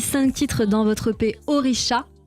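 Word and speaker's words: Orixá: Oricha qui se prononce comme ça mais il y a un X.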